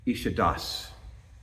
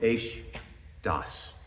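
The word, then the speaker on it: אֵשׁ דָּת: to be on that term which is uh ishad which means actually waterfalls but we're told that we're supposed to pronounce it is no is Das a fiery law so the Torah states that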